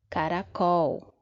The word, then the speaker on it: caracol: Caracol. Caracol. Então, a última sílaba eu falo assim com um pouco de mais força. É a nossa sílaba tônica.